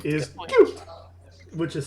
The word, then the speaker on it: Qhute: Cute, which is spelled Qhute.